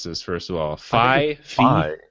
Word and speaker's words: Fi: Phi. I think it's Phi because it's like the second half of Wi-Fi, right?